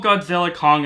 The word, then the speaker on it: Godzilla x Kong: and that movie is Godzilla x Kong: A New Empire, or Godzilla Kong: A New Empire, saying that the X is silent, however you want to call it.